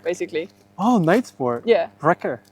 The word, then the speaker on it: Ritter: Ritter.